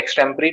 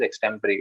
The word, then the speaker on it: extempore: old uh yes on childhood yes so the extempory topics we pronounce it as extemporary okay okay okay okay okay no problem i